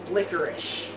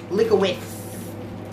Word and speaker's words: licorice: Hardee's weather-resistant licorice root licorice yes that is how you say I heard some people say lick awaits licorice trust me let's move